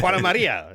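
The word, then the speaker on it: Juana María: to a lady by the name of Lady Juana Maria Smith, and she Let Jody loved. say that first. How do you say Oh, that? Juana Maria.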